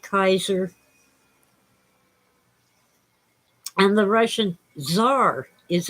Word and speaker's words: Caesar: And by the way, the Romans pronounced it Kaiser.